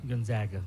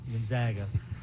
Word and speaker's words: Gonzaga: get a game with Gonzaga in 2021 Gaga Gonzaga Gonzaga uh I always it burn always Burns me